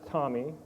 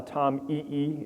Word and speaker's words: TomEE: stack uh it's pronounced Tommy not uh Tom E it's Tommy like the name you may know someone called Tommy and they probably think